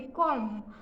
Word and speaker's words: comb: उसके बाद COMB, इसे भी हम बी नहीं बोलेंगे, कॉम।